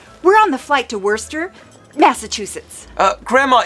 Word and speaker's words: Worcester: We're on the flight to Worcester, Massachusetts. Grandma, it's Boston. Shh. It's spelled like Worcester.